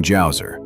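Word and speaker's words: Djoser: The third dynasty kicked off with King Jouer. Immediately we see the resourcefulness of the Egyptians because not only did they invent paper and build the pyramids, but they also introduced the silent letter.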